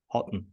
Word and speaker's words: Hutton: hypnotist and a coach please welcome Hutton did I pronounce it correctly yeah yeah perfect perfect Roy thank you